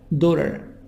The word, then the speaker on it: daughter: Exercise 3 family wife husband son daughter GH silent daughter T a soft D daughter brother sister parents T